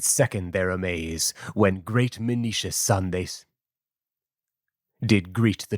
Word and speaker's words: Menoetius: their amaze when great Menoetius' son they saw. I didn't write a uh pronunciation for that, but it's definitely Menoetius. He spelled it in a different way, is why I'm saying that.